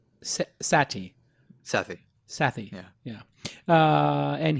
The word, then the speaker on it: Sethi: me talking to you some people say Sethi it's pronounced sati Sethi sathi yeah yeah